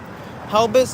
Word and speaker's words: Helbiz: It's Helbus Wheels. Helbus is spelled Helbiz.